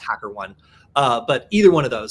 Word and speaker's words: HackerOne: then like Bugcrowd or Hackeroni, either one of those could be, or I believe it's pronounced HackerOne.